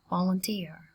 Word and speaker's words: volunteer: Trọng âm dần chữ thứ 3 các bạn nha. Volunteer.